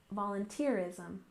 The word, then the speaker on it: volunteerism: finally we have volunteerism with stress on the third syllable volunteerism volunteerism of course to volunteer